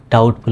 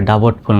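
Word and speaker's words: doubtful: ডি ও ইউ বিটি এফ ইউ এল ডাউটফুল উচ্চারণ হবে ডাবটফুল নয় ডি ও ইউ বিটি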